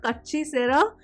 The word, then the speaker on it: Katchi Sera: So this song is called Kachi Sera. That's how it's pronounced, Kachi Sera, and it's composed and performed by him.